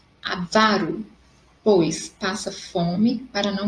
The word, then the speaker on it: avaro: Ele é avaro, pois passa fome para não gastar seu dinheiro. Então, vocês teriam que sublinhar ali a parte da sílaba vá, que é a sílaba mais forte quando eu pronuncio.